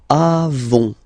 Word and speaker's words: avons: Then nous avons, final S not pronounced, avons.